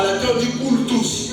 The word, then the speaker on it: cultus: I have that where Ça vient de à latin on dit cultus, parce que quand c'est U, à latin on prononce ça U.